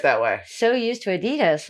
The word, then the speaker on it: Adidas: let's see how they what's the correct correct pronunciation hey have you seen my Adidas shoes your what shoes Adidas um Adidas the brand oh Adidas um Adidas I I